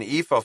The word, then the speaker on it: Epha: Oh, I thought I was meeting an Epha Farber. He pronounced Epha's name correctly. EA without tripping over the word. Or as Eva liked to say, it's like Eva but with an F.